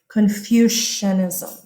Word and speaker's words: Confucianism: Kids always put an S right here. And they try to spell it like confusion. It's not Confucianism. It's based on his name. Confucianism.